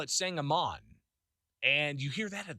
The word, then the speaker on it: Sangamon: One thing that kind of gets to me a bit is the pronunciation of Sangamon. It's the county here in Central Illinois, the county that Springfield's in, Sangamon County. It's not spelled that way, though, right?